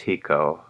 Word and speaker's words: HECO: Okay, Hawaii Electric Company, often abbreviated HECO, pronounced HECO, incorporated on October 13th, 1891.